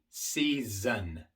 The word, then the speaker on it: season: Season, season. Aquí tenemos una S al principio de la palabra y recuerden que al principio siempre es sorda.